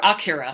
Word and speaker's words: Akira: Akira. Or Akira, that's how they pronounce it in Japan.